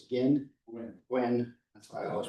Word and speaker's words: Guin: I always mispronounce it. It's Guin.